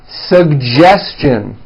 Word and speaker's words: suggestion: educate educate next one suggestion this one's also a bit tricky sug gestion suggestion very good now the American